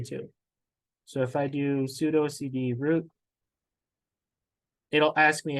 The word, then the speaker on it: sudo: super user do or pseudo some people call it Pudo I like to call it pseudo I think Sudo is technically the right way to pronounce it uh but allows us